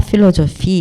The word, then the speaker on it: philosophie: 빼아쉬는 그냥 F로 발음하면 돼요. 프랑스어에서 이 아쉬는 뭐 있으나 마나라 그랬잖아요. 그러니까 그냥 그리고 또 근데 빼하고 같이 쓸 때 이거는 또 이제 F로 같이 발음이 나요.